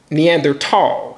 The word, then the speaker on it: Neanderthal: known as the Neanderthal or is pronounced in the end there tall as far as the th being silent let's look at something